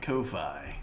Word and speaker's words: Ko-fi: It is pronounced Kofi.